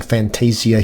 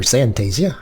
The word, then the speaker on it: Zantasia: So we're rejoining Fantasia here, or Zantasia, I'll say it properly, it has a Z in the front of it.